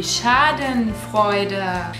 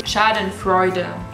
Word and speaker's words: Schadenfreude: Next one is die Schadenfreude. That's how we pronounce it in German. I guess your English speakers probably say Schadenfreude.